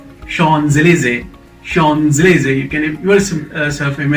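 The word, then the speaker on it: Champs-Élysées: go by the spelling it's not champs-elysees look at me it is shawn zelizay sean's laser you can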